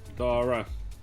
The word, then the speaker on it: Dara: And they've tried to bring Darren onto different shows, and it just didn't work. Dara. Dara, okay, Dara. Not Darren.